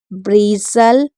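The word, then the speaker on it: bristle: STLE होगा तो T silent रहेगा, STEN होगा तो टी साइलेंट रहेगा। जैसे इसको पढ़ते हैं, इसे पढ़ेंगे एपोसल। एपोसल, ब्रीसल, बसल, कैसल, फैशन, हसल, लिसन।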